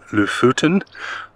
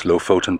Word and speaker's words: Lofoten: Maybe to Lofoten. I pronounce it as Lofoten, but apparently it's Lofoten.